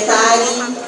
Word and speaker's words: Taryn: Meu nome se escreve TARYN, e lá eu estou sempre atualizando a agenda, assim como na minha página do Facebook, que é Tari, né, também, apenas.